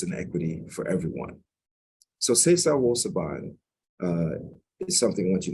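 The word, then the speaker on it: Sesa Wo Suban: It's pronounced Sesa Wo Saban, Sesa Wo Saban, and it means to change or transform your character.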